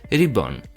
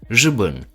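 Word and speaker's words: 日本: In pinyin Mandarin, it's rìběn. In Dungan, it's jitpun, while in Cantonese is jitpun. The Malay also has a very similar pronunciation, Geppun and Japang.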